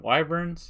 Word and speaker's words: wyvern: are they called again why burns yeah that's how you pronounce a word it's a little baby